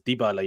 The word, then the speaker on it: Dybala: two it's looking good already i think it's dibala you meant to say his name i've heard